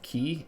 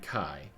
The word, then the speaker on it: Key: The letter Key can be pronounced both Ki and Kai, leading to some confusion, and symbolizes the perfect crossing of light and darkness.